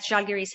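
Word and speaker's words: Žalgiris: But did you expect it sparkling start like Zalgiris have? And did I pronounce it well?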